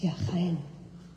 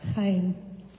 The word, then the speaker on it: Jaén: It's Jaén. It's the name of a town in Spain. Do you like olive oil? That's where the olive oil comes from, Jaén.